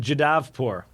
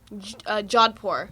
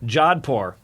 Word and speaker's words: Jodhpur: And you said it was in Jadavpur. Jodhpur. Jodhpur.